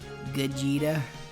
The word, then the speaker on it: Gogeta: Gogeta. That's how his name's pronounced, by the way.